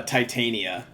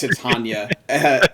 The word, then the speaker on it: Titania: Everyone and their grandmother, myself included, back way back in the day, pronounced it to uh Titania. But yes, it is in fact Tatana from Shakespeare's uh um A Midnight Summer's Dream.